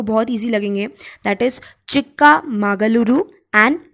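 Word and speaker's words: ಚಿಕ್ಕಮಗಳೂರು: बहुत easy according to मी, एक बार आप प्रोनाउंस करके देख लेंगे आप लोग को बहुत इजी लगेंगे, that is Chikka मागलुरु and Tumakuru. I'm repeating again, Chikka मागलुरु and Tumakuru.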